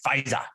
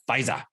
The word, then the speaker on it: Pfizer: After the federal government late Tuesday authorized Pfizer's coronavirus vaccine, you got to say Pfizer. You have to say it like that, Pfizer.